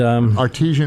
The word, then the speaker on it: artesian: Artisan breads. And artesian is a well. That's artesian well.